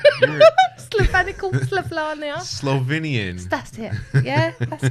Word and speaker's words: Slovenia: Slovenical? Oh, you're a racist. What? You can't That's even not say it right. You're Slovenical, Slovenia.